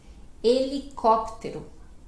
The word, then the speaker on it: helicóptero: Mas no português o H é mudo, né? Esse H inicial é sempre mudo, silencioso. Então, helicóptero.